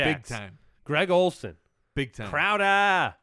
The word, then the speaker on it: Crowder: Greg Olen Big Time Crowder it's it's pronounced crow look there are a